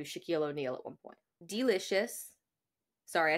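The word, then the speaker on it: Deelishis: Delicious. Sorry, I said that really weird because the name is spelled really funny.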